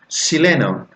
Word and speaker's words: Chile: About pronunciation, the very title of this book, Chileno, the sound changes to sh. So instead of Chile, they say Chile.